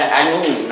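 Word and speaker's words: Annwn: Yeah, it does, yes, and Anún, or as it was pronounced in Old Welsh, Anún is the modern Welsh pronunciation.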